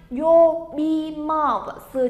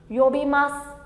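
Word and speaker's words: 呼びます: Yobimasu chính là gọi mọi người nhá. Gọi. Đấy. Từ này chúng ta đọc là gì đây nhỉ? Yobimasu.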